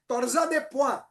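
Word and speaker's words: torsade de pointes: It is pronounced as torsa de point.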